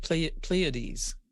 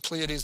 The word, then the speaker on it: Pleiades: Now I just realized I didn't pronounce that right. Pleiades.